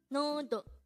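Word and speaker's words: 너도: Nodo. This is pronounced as a two-syllable word. The first syllable is no, second syllable is do.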